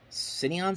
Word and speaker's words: Cineon: depth using the um cineon system I think it's how you pronounce it c-i-n-e-o-n I I believe that's it and they did that